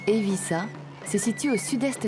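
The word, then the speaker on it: Eivissa: signifie l'île des pins sa capitale dont le nom se prononce en catalan et vie ça se situe au sud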